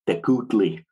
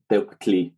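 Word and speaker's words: tecuhtli: people will also pronounce that as Tecutli or something like that. But really, since there's no U vowel in colonial Nawatl, that U represents just lip rounding on the K, so it would be pronounced as something like Tectli, but probably more likely as Tectli. That's how I've heard that word pronounced by native speakers, for example.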